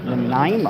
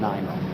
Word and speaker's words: Nanaimo: I'll be at the Pierre rally in Nanaimo. It's been a real struggle to pronounce that name, I'll tell you.